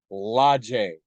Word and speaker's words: La James: la james and pronounced logies which for those of you unaware is french for the james with a feminine article so yes i guess